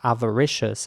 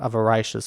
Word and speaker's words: avaricious: ways of pronouncing it here's American English avaricious and he's British English avaricious avaricious yes so in both British English and American English this is pronounced avaricious and not avaricious or something that would be incorrect I guess avaricious okay here's